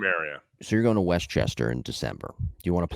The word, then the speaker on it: Westchester: Chester oh you're it's it's called it's Westchester it's not Westchester you've got your syllables wrong Westchester Westchester you sound